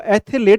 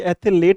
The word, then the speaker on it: athlete: अब नहीं जाने दूंगा कितना भी बड़ा एथलीट है तू, पर एथलेट, तो एथलेट पंजाब में बोलते हैं। तो आपको ध्यान रखना कि एथलेट नहीं बोलना है अपने को, ये एथलीट बोलना है, और ये वाला बिल्कुल करेक्ट हो जाएगा।